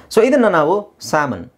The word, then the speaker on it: salmon: the next word this is very simple okay salmon salmon s n salmon salmon salmon okay salmon